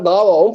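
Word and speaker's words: قهوة: அதே போல வந்துட்டு சம்டைம்ஸ்ல வந்துட்டு அதை எப்படி ப்ரொனவுன்ஸ் பண்ணுவாங்கன்னா காவாவும் ப்ரொனவுன்ஸ் பண்ணுவாங்க காஃபை.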